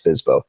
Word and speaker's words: FSBO: I just play on the word Fizbo in the way that we pronounce Fizbo.